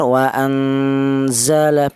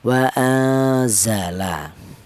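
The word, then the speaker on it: وَأَنْزَلَ: Jadi cara bacanya jangan vokalnya tidak ng tidak wa anza bukan atau bukan terlalu samar wa anzala bukan tapi pertengahan wa anzala untuk seputar pembagian sudah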